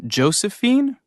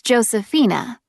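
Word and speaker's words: Josefina: Is your first name Josephine? Actually, it's Josephina. It's spelled J O S E F I N A.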